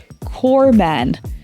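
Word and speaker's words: corpsman: означає труп слово яке Обама мав на увазі corman друзі вимова особливо складних слів має дуже велике значення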